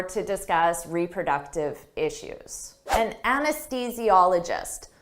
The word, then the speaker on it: anesthesiologist: An anesthesiologist. Don't let this spelling confuse you. Native speakers have difficult with the pronunciation of this anesthesiologist. Anesthesiologist.